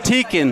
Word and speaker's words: Teakin: right yes sir how do I say your last name the right way teakin okay we were right okay sometimes we butcher